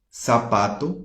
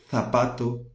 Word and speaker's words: zapato: La Z del zorro, en español pronunciamos, en América Latina pronunciamos como si fuera S. Entonces, palabras como, por ejemplo, zapato, ¿no? Que con Z, Z, zapato, zorro, azul, ¿ok? Zorrillo, lápiz. Na Espanha vai ser lápiz, azul, zapato.